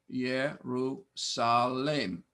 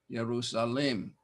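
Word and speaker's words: Ἰερουσαλήμ: Jerusalem. Accent here. Jerusalem.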